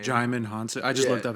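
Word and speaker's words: Djimon: used to call him Simon in my head because I never really uh knew like how to pronounce it but I just looked it up yeah the D is silent but he's in like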